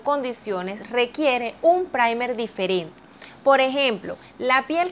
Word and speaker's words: primer: Este producto es un primer, se escribe primer y se pronuncia primer.